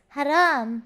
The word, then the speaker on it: Haram: what is haram mean Haram means bad bad bad bad no it means very bad and naughty Haram but you say it like this Haram that's how you say it and then and